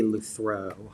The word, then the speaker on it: Lutherow: I was looking at John because he's our I would say it would be Luthrow. Luthrow.